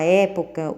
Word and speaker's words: época: maneira nas duas palavras não né porque porque na palavra época o som representado pelo é ele é aberto em prêmio ele é fechado né então aí nós